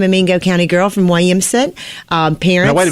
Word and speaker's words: Williamson: Mingo County I'm a Mingo County girl from Williamson um parents now wait a minute hold it you pronounce it Williamson and not Williamson Williamson William